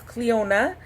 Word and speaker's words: Cleona: They know people can't pronounce it. They put the pronunciation at the top of the card. So it's Cleona.